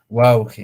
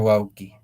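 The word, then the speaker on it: wawqi: Así, wauge en este caso, no wauki. Si lo vamos a escribirlo con ello, se pronuncia wauki.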